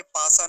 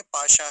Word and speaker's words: पाशा: बोलेंगे फिर आगे है पाशा पाशा पाशा में ताल वकार है इसका ध्यान रखेंगे पासा नहीं बोलेंगे पाशा है वो डाइस होता है